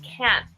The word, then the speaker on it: can't: So this makes it really complicated when we're saying can't, because it's basically silent, the T.